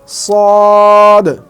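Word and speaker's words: ص: ঠিক এভাবে শেষে একটা বলকে যেভাবে দূরে নিক্ষেপ করলে বা সামনের কোনো দেয়ালে নিক্ষেপ করলে যেমন ড্রপ খেয়ে নিজের কাছেই ফিরে আসে, তো ঠিক সদ উচ্চারণ করতে গিয়ে ঠিক সেভাবে উচ্চারণ হবে।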